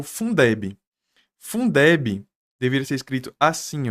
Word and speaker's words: Fundeb: Agora, veja, Fundeb, eu falo Fundeb, lendo as sílabas. Eu não falo F-U-N-D-E-B, tá? Se eu lesse F-U-N-E-D-B, eu teria que deixar ela em maiúscula.